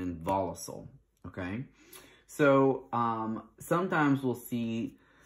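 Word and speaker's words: involucel: I think some people will say like involucile or involucra, but it's involucre and involucile, okay?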